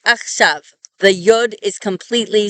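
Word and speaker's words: עכשיו: So to indicate that it is a V sound at the end, a yod is placed before the vav. You don't hear this yod at all.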